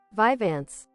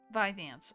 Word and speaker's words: Vyvanse: I don't even know if I'm saying that medication right. Oh, let's see. Hold on. To great old Google, I go paste pronunciation. Vyvanse. Vyvanse. Oh man, that was not even close to what I was saying.